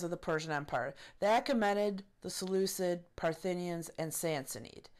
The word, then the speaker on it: Achaemenid: The Achaemenid Empire, or Achaemenid, the way it's properly pronounced, was really the most Persian of the four empires.